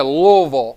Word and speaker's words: Louisville: You got to kind of slur it all together. Yeah, Louisville.